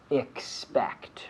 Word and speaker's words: expect: So we have to be careful with the pronunciation, expect, right? Can you say that again? Expect, right? So I have to hear that C, expect, the X and the C, expect, okay?